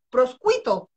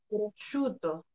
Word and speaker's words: prosciutto: dije a mi amor, pedí un sándwich tan rico de proscuito. Y mi marido me dice, prosciutto. Así que ahora lo pido como prosciutto.